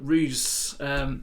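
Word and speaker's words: Roose: That's the Barovian pronunciation. Others pronounce it as Roos. Just open up the doors here, take the HUD off, go to 8 camera and pause the game. So Ruse just basically lies upon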